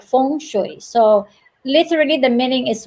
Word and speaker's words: feng shui: in how you s you say it is fong as in phongshoi and some of the you know people they pronounce pronounce it that's feng shui like you know the british pronounce it but